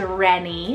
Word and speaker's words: Rennie: fourth the last name on the list is Rennie it's the r-e-n-n-i-e ready with the nickname of